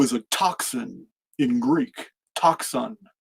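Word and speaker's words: τόξον: Toxon. That's how you pronounce it in Greek.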